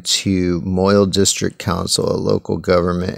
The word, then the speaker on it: Moyle: same word there's just mall is like a Scottish modern Scottish pronunciation of Moyle so yeah so basically